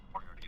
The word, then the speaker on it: Moriarty: Moriarty is pronounced R-T.